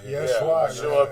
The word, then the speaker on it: Yeshua: Because the letter J is only 450 years old. So they say his name is Ashua. Yeah, right, Ashua. Yeah, Ben Yosef. Yeshua Ben Yosef.